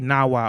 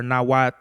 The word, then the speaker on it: Nahuatl: They don't pronounce the L's. Like what were they saying? Like people might say Nahuatl, but they say Nawa or Nawat, or you know what I mean?